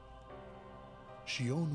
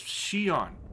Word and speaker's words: Xion: Xion was affected by Roxas, just as we had anticipated.